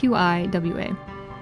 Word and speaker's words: Qiwa: So this is Kiwa, or Chiwa. They pronounce it very different. It's Qiwa.